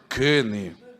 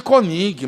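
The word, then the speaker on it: König: Kenny. Diga comigo, Kenny. Todos me chamam de Konig, mas a pronúncia é Kenny. Amém? Porque tem uma trema em cima do O.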